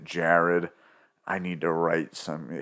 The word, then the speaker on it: Gerard: I don't know, I think he spells it Gerard, but he pronounces it Jared.